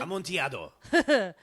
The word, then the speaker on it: Amontillado: Oh my god, is that how you even pronounce it? Amontillado.